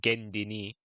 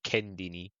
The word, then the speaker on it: kendini: Yeah, but like for example, I swear I said Gendini, but I swear Turkish people say Kendini, innit? Like feel like I feel like we put some like we pronounce you guys pronounce certain words you would pronounce it with a K and we'll pronounce it with a G.